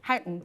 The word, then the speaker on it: Houghton: I was going to say, actually, Peter Mandelson just picked me up on my pronunciation of Houghton. He says Houghton. Houghton.